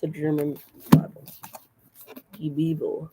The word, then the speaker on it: Die Bibel: Die Bibel. That's how you pronounce it.